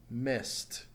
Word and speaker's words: missed: to the past tense missed missed since it ends in a sound not vibrating takes a T sound at the end let's take a look